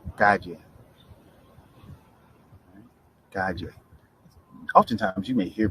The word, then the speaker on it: calle: Calle, calle. Oftentimes, you may hear people even pronounce it with like a soft J sound, calle.